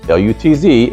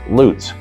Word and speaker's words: Lutz: the world would pronounce L U T Z as Lutz. Around here L U T Z is pronounced Lootz.